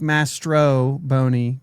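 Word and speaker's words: Mastrobuoni: It's like Mastro Boney, but yeah. Mastro Boney. My nose is stuffed. That's all. Yeah. That's it. Baseball Reference does not have a Master. Yeah, no, it's not Master Boney.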